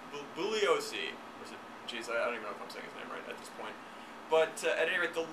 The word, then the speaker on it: Bugliosi: by leo julio Bugliosi you don't pronounce the G booboo leo see but at any rate